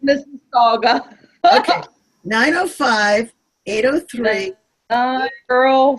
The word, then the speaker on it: Mississauga: Pronounced Mississauga.